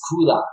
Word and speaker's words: Koohlah: creation from Africans so the way I like to say it it's Kola it's and ah with a